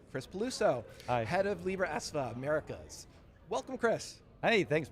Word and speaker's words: Libra Esva: Yeah, you know, there is a lot of history around that and thank you for pronouncing it correctly. Libra Esva, you know, we end up spending a couple